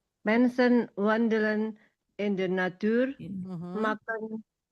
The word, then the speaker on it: maken: Mensen wandelen in de natuur, maken agak panjang sedikit A-nya.